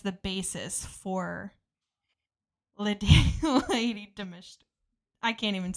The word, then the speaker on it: Dimitrescu: Like then even um She's like In Resident Evil, Lady Dimitrescu, is that how you say it? Lady Dimitresc Dimitrescu, yes. Her, she is actually based